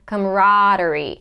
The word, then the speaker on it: camaraderie: the schwa come-come camaraderie so the stress position is gonna be higher in pitch and longer camaraderie and then we have the d and re and we go from the D immediately to the r sound camaraderie camaraderie now this